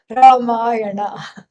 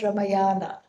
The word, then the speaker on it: Ramayana: In America, they say Ramayana. Okay, so that's not how to say it. Ramayana, not Ramayana. Okay, and so that is why we have Ramayana.